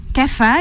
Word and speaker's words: kapha: Ça s'écrit kapha. Kapha, et ça se prononce kapha ou kappa.